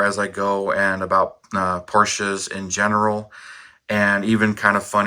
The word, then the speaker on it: Porsche: So I understand it's Porsche or Porsche, Porsche, which right here.